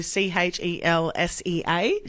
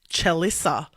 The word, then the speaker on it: Chelsea: it is normal so c h e LS EA Chelsea well every time she goes there they write it correctly on the cup but they pronounce it chissa that's not my name like Melissa chissa has